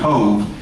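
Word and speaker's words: Cobh: off the coast of Cove, C-O-V-H in the Gaelic is pronounced Cove, and it is the port for Cork in the southern part of Ireland.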